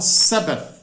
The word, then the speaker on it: Sabbath: a BB a th pra gente que é brasileira é difícil pronunciar né porque esse th final é um som que não existe em português a gente tenta pronunciar